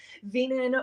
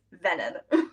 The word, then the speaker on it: Veenan: I always get Veenan or Venen. It's No, it's Venen.